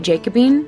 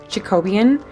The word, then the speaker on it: Jacobean: first got this stain, I was literally calling it Jacobine, but it's pronounced Jacobean.